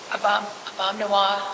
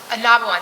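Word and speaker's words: Ah-Nab-Awen: arena, Rosa Parks Circle, Abomnawa, how did I say? I'm saying it wrong. Anabawan, thank you, the park.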